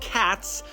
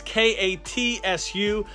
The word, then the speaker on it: katsu: Which I'm not going to lie, I always thought he was yelling out cats, but it's K-A-T-S-U. I guess katsu or cats, however he does pronounce it in there.